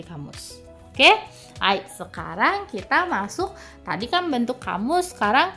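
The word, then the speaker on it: ます: Hai, sebenarnya masu itu dibaca cuman u-nya tenggelam. Ya, jadi u-nya masuk ya, masuk. Nah, kayak gitu. Kalau kalian bisa boleh, tapi kalau enggak nanti aneh. Lebih baik u-nya dihilangkan saja, tidak usah diucapkan.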